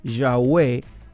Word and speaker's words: Yahweh: tetragramatón que es YHWH, lo que hicieron fue incluirle vocales intercaladas y las vocales que utilizaron fueron las del nombre en hebreo mi Señor, Adonai. Y entonces con las vocales de Adonai las intercalaron en YHWH y formaron un nombre que se pudiera pronunciar como Yahweh o Jehová.